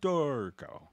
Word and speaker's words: Dorico: always you know so we have to pronounce it very italian dorco you know so that's